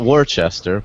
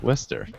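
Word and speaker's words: Worcester: to pronounce it correctly not Worchester Wester yeah wer the best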